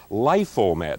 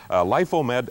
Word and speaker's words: Lifomed: Lifomed, and I'm pronouncing it right this thanks to several viewers that phoned in. Lifomed up 3/8.